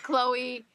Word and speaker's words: Chloe: name wrong I'm like it's not that hard it's Chloe it's just Chloe it's like it's your daughter seriously man it's legit four four letters one syllable hi oh yeah eight